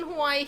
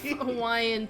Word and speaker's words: Hawaii: Here's the rule: if a W is at the beginning of a Hawaiian word, it's a W. If it's in the middle of the word somewhere, it's a V. yeah. So Hawaii is actually pronounced Hawaii, by the way.